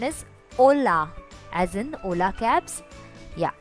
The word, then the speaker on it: hola: Note here that the H is silent. So the pronunciation is hola, as in Ola cabs. Yeah, so that's it. Hola. Kindly repeat this. So hello is hola.